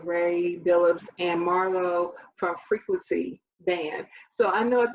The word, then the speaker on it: Freakwincey: beginning of the show i said freak blitzy and that was not correct so i do apologize that's why i wanted to make sure that i uh was pronouncing it right it's a simple mistake but it's frequency so i really like how